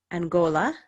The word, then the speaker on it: Angola: Angola, where they have the hard G.